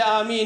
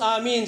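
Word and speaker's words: آمين: Comment pour prononcer Amin? C'est un alif qui est un madlo là. Alors, nous besoin qu'on prononce lui.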